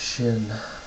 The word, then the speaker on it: Xin: into unofficial of course it's pronounced Shin Catherine leave the room